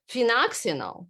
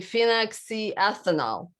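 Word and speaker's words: phenoxyethanol: really bad ingredients but one of them is phenoxinol right i can't even pronounce it it's it's actually phenoxy ethanol okay so this ingredient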